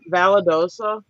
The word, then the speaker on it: Valdosta: did y'all go how do you say it Valdosta yeah so we're from We're from the north